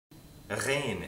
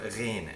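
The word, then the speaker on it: غين: It's almost like a French uvular trill.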